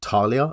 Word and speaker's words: Thalia: 500 printings or now I've been told it's pronounced Talia and thraen but Thalia guardian of frin timet